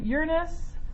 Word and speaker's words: Uranus: Well, you would be pronouncing it the way I said it. Yeah, because that's the correct way to pronounce it.